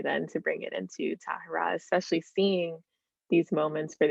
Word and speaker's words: Tahara: words where like in english you can say tahara or tahara it's not wrong either way but the correct pronunciation is tahara but like if you were to say tara you'd still be right can you talk about